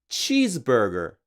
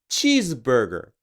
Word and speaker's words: cheeseburger: For example, when a Japanese person pronounces cheeseburger, even though in English people say cheeseburger, the stress is on cheese, cheeseburger, right? But in Japanese, we would say cheeseburger. We place the stress or accent on the second word, burger, or more precisely, on ba, cheeseburger.